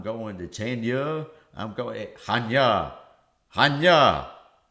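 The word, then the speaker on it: Chania: Is spelled C H A N I A if and you know the Latin alphabet. And some people say, "I'm going to Cha. I'm going to Chenia.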